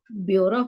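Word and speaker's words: ब्यौरा: पूर्वक कई चौपाई में बेवरा शब्द प्रयुक्त हुआ है जिसका शुद्ध उच्चारण योरा होता है इसका अर्थ होता है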